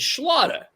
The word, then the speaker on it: Schlatter: People would say, Mr. Schlatter, Schlatter, and he'd go, "It's Schlatter. It's Schlatter."